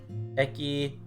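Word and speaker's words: へ: Or, yeah, the phonetic versus the actual writing. It's like writing wa instead of ha.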